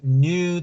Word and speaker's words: new: Their new teacher. New. La palabra new no se pronuncia new como siempre la han escuchado new, sino es solamente una U.